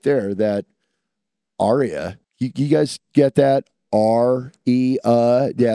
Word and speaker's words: Aria: That guitar right there, that aria. You guys get that? R-E-A. Yeah, pronounced it right. Aria. Yes. And it's the guy's name, not the opera term.